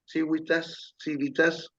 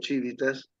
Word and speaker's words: civitas: Y la civilización viene de civitas, depende de qué pronunciación de latín se use, o civitas, que es la cultura